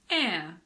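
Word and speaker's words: heir: sh like in Chef there are also a few words that start with a silent h for example air honest h hour in American English the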